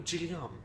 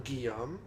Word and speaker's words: Guillaume: it's like excuse me are you genome and I'm like if you pronounce my name like that it means you've never heard it before I say yeah I'm Guillaume and how do you